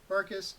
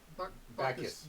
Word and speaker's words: Bacchus: Barkus. Yeah. Or there's no R. Bacchus. Bacchus. That's it.